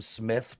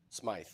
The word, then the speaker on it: Smythe: Andy, I think they're screaming for the Durham Smith prop. Smythe. Smythe. So last Friday I had a bad pronunciation day.